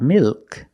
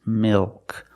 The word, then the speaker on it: milk: also a dark L mil milk it's not milk it's milk the tongue gets fatter at the bottom it expands and it goes up a